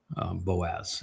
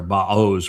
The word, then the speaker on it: Boaz: with power in power boaz. It's actually ba or baos would be the uh the proper pronunciation if you look at things.